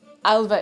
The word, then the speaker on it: Alva: Alva is how that's pronounced. It's a nice name, Alva.